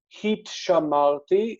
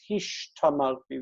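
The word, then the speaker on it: הִשְׁתַּמַּרְתִּי: So instead of heat shamarti, it's hish tamarti. They trade places, the S and the T.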